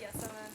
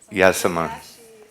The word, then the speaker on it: Yasaman: We say Yasaman. You can say Yasmin. Yasaman.